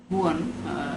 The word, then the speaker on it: Juan: The other most famous poem by Byron is Don Juan, Juan or Juan, it is spelled as it is pronounced in Spanish, Juan.